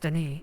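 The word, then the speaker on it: D'ni: It's pronounced Denis. I know you're actually the last person who is alive from that civilization, but you're saying it wrong. It's Denis.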